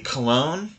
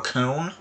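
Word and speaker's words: Köln: that loss you see cologne or cone however it look which I I I usually say cologne because for whatever reason it's difficult for me to pronounce the German version of their name it's a very ho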